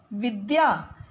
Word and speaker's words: विद्या: द्य, विद्यालय, विद्या। द और य को मिलाकर बना है द्य, इसलिए इसका शुद्ध उच्चारण है विद्या, विद्यालय।